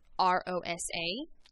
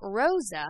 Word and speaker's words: Rosa: a sound and also if an r starts a name or a word like in the name rosa it's not rosa it's rosa rosa so have a little